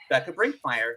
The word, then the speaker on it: Bekah Brinkmeier: And today I have the pleasure of chatting with Becca Brinkmire, which I really should have asked the pronunciation beforehand.